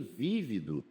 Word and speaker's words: vívido: Vivido é particípio do verbo viver, mas tem vívido, que é adjetivo.